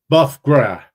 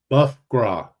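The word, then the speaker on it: bœuf gras: check this pronunciation here B Gra I think or bogra let's see here it's buff gra buff gr just like Marty gr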